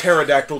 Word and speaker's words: pterodactyl: I believe it's pterodactyl, the P is silent.